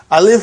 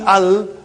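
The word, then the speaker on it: ال: But you see, you are reading as Al. You gave a vowel sign on Hamza. And you gave a sukoon on Lam.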